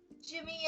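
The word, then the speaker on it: Gem: Jimmy and the Jets. Yeah. Jim is spelled G-E-M, like G-E-M.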